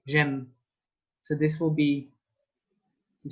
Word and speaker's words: j'aime: And Amy sounds a bit like M, like I like, j'aime.